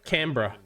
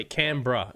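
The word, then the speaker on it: Canbra: Cambra. Oh, yeah. Like a bra. Yeah. Cambra. That's how it's pronounced. Cambra.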